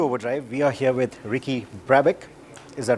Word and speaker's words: Ricky Brabec: welcome to overdrive we are here with Ricky previck is that right yeah that's how you pronounce it yeah he's the winner of the